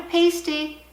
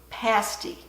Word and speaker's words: pasty: It is a pasty, not a pasty, because when I think of pasty, I think of kind of something else. It's pronounced pasty.